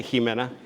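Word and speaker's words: Ximena: First name is Jimena, or I think that's how you say it because it's an X. I would say Jimena. Is that right?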